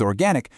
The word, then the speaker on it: organic: With organic, we're looking at a couple of key details. That first or sound is crucial, but so is that open a vowel in the stressed syllable. Organic.